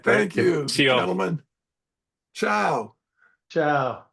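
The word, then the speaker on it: tchau: Ciao. By the way, in Portuguese, it's spelled T C H A U.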